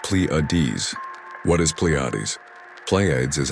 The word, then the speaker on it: Pleiades: I'm talking about the Pleades which is pronounced Pleades.